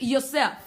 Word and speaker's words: Yosef: The name Joseph in Hebrew is Yosef. Joseph in Hebrew is Yosef. Yosef is spelled Y-O-S-E-F. Yosef.